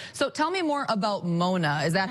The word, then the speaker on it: Mona: So tell me more about Mona.